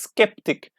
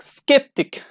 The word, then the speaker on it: skeptic: always happen though like say is a chemist skeptic but you know these words are exceptions sometimes they are pronounced like okay and by the way how